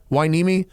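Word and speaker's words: Hueneme: enormous retail location in port winimi is that pronounced right zach why nemi it's up by oxnard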